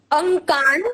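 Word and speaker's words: अङ्कान्: और उसका जो ड दिख रहा है वो एक्चुअली अनुस्वार है, और यहाँ पे अनुस्वारण का उच्चारण होगा न। तो यहाँ पे न का उच्चारण यहाँ पे हमें करना है अंकान। अंकान अंकान। हाँ, इस वर्ड का यस, इस वर्ड का उच्चारण हम करेंगे अंकान।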